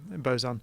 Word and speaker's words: boson: Yeah, boson.